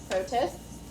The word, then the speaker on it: protists: Protists, Tis. That is an I, not an E. Protists. and one for It's like I. It rhymes with I.